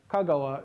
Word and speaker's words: Kagawa: so kagawa prefecture uh kagawa is uh its name of a place and it's uh got accent on its first syllable but the expression for